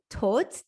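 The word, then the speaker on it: todt: might see the word tot t-o-d-t instead of t-o-t for the word dead so again this d is almost silent it really doesn't change the pronunciation of the word which is why um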